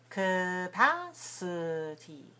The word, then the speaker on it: capacity: no watch me again capacity capacity can you see some weak vowels there some reduced vowels our first first and third the first the first and the third right the first and the third syllables are weak right so two are clear pat and t the second and third and then fourth but the first and third are weak capacity capacity capacity right how does that